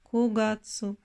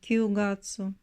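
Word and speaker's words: 九月: Le neuvième mois est kugatsu, et non kyugatsu.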